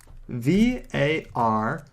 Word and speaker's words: var: i'm going to type var which is short for variable it's usually pronounced VAR so if i say